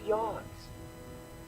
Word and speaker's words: Yogs: Welcome to Yogs. Permission granted. Hashtag now you can. Yogs. There we go. On his website thing, it says how to pronounce it, and it says phonetically pronounced yogs.